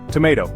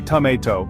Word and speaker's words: tomato: Tomato. Americans say tomato and Brits say tomato.